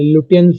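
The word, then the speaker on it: Lutyens: एल यू टी वाई ई एन एस उसका surname है। लुटियंस बोलेंगे।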